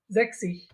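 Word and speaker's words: sechzig: তাহলে এখানে হবে কি জ্যাক্সিস, জ্যাক্সিস মানে কত আমার 60 বা 60।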